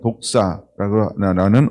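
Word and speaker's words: δόξα: 발음은 독사라는 언어를 사용하는데 이게 하나님의 영광이라는 거예요.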